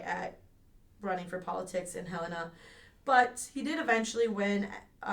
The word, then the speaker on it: Helena: In 1867, he became a legal resident of Helena, I think is how they technically pronounce it, Montana. I know some people who are named like Helena and stuff, but I think Montana it's pronounced Helena if I remember right.